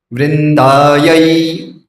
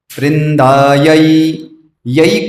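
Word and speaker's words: वृन्दायै: वृंदायै, वृंदायै, यही कहना है, वृंदा ये नहीं है, वृंदायाय नहीं है, क्योंकि इंग्लिश में क्या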